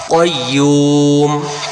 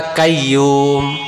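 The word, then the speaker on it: قَيُّوم: আল হাইয়ুল, আল হাইয়ুল, qayyum, qayyum, qayyum, qayyum, qayyum না কাইয়ুম।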